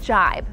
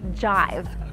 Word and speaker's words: jibe: ideas don't mesh ball they don't jibe some people mistakenly say jive if you really don't